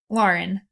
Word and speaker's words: Lauren: Now, is it pronounced Lauren or Lauren? Lauren.